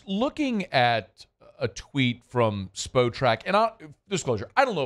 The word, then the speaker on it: Spotrac: For a long time, I think I said SpotRack, and then y'all told me, no, it's SpoTrack, but do you know what it is?